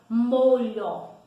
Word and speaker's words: molho: Então, vamos imaginar aí a palavra molho. Molho, L-H-O, M-O-L-H-O. Se eu tirar o LH, fica como molo. Olha a diferença. Então, nós não pronunciamos o som do H, mas ele precisa de